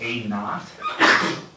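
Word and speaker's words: A₀: Initial means starting, but it's called A naught. That's just how it's pronounced.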